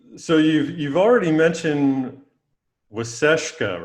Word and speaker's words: Waasaashkaa: you've you've already mentioned waseshka right that's how i pronounce it yes that's correct so we want to